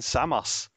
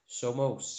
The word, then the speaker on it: Somos: And today we are doing the incredibly famous Kayn Samos. Somos, yeah. So famous. My man Somos. Who knows how to pronounce his name?